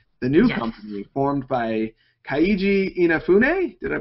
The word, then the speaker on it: Keiji Inafune: manager of Comcept, the new company formed by Keiji Inafune. Did I pronounce his name right? You tried. It's Keiji Inafune.